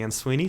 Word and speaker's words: Ansuini: I'm at and Sweeney, spelled ANSUINI.